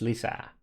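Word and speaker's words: lisää: This is, you pronounce this Lisa.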